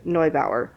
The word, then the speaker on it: Neubauer: House by Erica Ruth Neubauer, or Neubauer, or however you say it. Neubauer would be the German pronunciation, but if you Americanize it, it might be Neubauer.